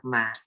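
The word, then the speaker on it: math: You don't pronounce TH at the end of ma.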